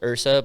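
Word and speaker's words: IHRSA: yeah now recently from i believe it's pronounced ursa but it's the international health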